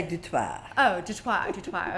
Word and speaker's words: Du Toit: Did I pronounce that right? Du Toit. Du Toit, Du Toit. Such a beautiful name. The French would say Du Toit.